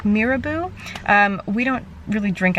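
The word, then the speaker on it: Mirabeau: Also, part of the competition was, and I think you say it like Mirabu, um, we don't really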